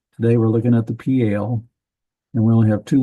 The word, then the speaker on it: Piel: So this is pale. That's how you pronounce that.